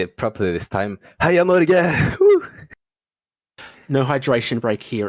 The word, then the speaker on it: Heia Norge: And yeah, to say it properly this time, Heia Norge!